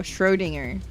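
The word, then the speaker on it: Schrödinger: Is that how you're supposed to pronounce this? Schrodingers? No. Shrodinger. Right. Schrodinger.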